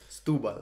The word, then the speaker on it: Setúbal: Tu signes au FC Setúbal, pour la prononciation. Stubal.